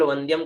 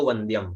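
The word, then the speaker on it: वन्द्यम्: से लोग यहाँ केवल वंद्यम का ही उच्चारण करते हैं, है ना, वंद्यम, व न और व होगा, आधा न होगा, दिया के ऊपर ऐसी बिंदी होगी तो वंद्यम, है ना।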